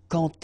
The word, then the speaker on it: quand: So like that, quand elle. All right, same rule here. Remember, when you will have this D, you will phonetically pronounce it like T.